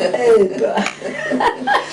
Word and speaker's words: Epe: Even though it's spelled E-P-E. It's Epa.